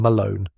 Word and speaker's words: Malone: Pronunciation Malone, like a loan with an M.